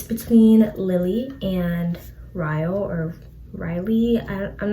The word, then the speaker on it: Ryle: lily and ryo or riley i'm not sure how you pronounce it but i pronounced it rile because it's spelled like kyle but with the bars so ryle and lily they are